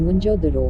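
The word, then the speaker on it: मोहनजोदड़ो: मोहनजोदाड़ो शब्द का सही उच्चारण है मुंजोदरो होता है।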